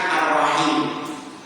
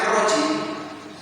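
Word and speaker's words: الرحيم: Jadi huruf H-nya itu ada titiknya harusnya arrahim. Bismillahirrahmanirrahim. Haknya itu enggak tahu ketempelan. Jadi ono apa kotoran terus ngengkel di situ. Jadi orang bacanya arji enggak tahu sengaja juga.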